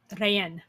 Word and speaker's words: Rayen: It's pronounced Rayen. Looks like rain.